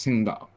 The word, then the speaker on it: Qingdao: How do you pronounce It's the not even QI? It's like Shit. Yeah, it's Qingdao.